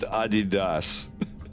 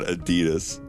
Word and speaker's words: Adidas: that are on a Adidas apparently yeah it's pronounced Adidas it's not Adidas what is it Vodka it's vodka trii something